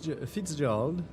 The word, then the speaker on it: Fitzgerald: On s'en était laissé à la rencontre avec Fitzgerald. Il y a un Z dedans, mais apparemment il se prononce pas, donc moi ça me bute.